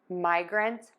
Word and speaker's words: migrant: Let's put that one together: my grunt my grunt migrant migrant Now for grain we're going to start with that gr again.